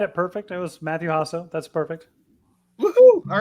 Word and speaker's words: Jasso: your name because I'm pretty sure I just butchered it in front of a national audience. You had it perfect. It was Matthew Jasso.